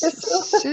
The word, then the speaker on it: sisu: Yes, Sisu. Sisu. Yes, and this is yeah. So for You're those of you who close. don't know, it's spelled Sisu, and Sisu is a Finnish, from people from Finland, not a Finnish.